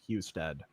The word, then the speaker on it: Husted: Ohio in here, it's pronounced Husted.